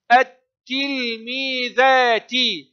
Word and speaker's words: التلميذات: التلميذات، هنا تلاحظون اللام الشمسية تكتب ولا تنطق، يأتي الحرف بعدها مشددا. التل مقطع ساكن، مي مد الياء، ذا مد الألف، تي.